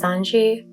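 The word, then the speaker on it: 三時: it's 3 o'clock because the pronunciation of 3 o'clock in Japanese is Sanji, which is his name.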